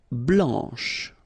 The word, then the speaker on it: blanc: so here masculine BL don't pronounce the final C and then Blan okay remember when you